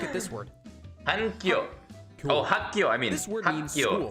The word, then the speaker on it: 학교: Oh, hakyo, I mean.